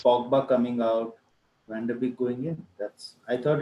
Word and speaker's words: Van de Beek: So it's Van der Beek, the pronunciation.